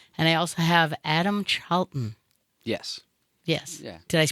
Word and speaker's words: Charlton: And I also have Adam Charlton. Yes. Yes. Yeah. Did I pronounce it right? Charlton, but yeah.